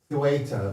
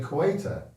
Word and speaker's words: Ceuta: We know it's pronounced Ceuta, but we're not Spanish, so we say Ceuta.